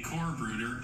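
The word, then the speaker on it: Corpsbruder: A Corbruder is a close comrade.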